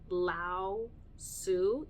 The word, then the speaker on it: Lao-Tzu: I had God jump in at one point, but I also had Lao-Tzu, is I believe how you pronounce it.